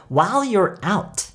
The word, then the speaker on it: while you're out: 발음이 조금 어려울 수도 있어요. while라는 L 발음과 you're out. 이 L 발음과 R 발음이 묘하게 섞여 있기 때문에 while you're out.